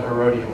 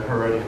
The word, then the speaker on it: Herodium: is a place called the herodium or the herodian depending upon how you pronounce it this perhaps is one